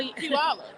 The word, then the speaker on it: Puyallup: So Puyallup. I will tell you. It's not... People from my town don't like my explanation. You say pew, like it smells, all, and up.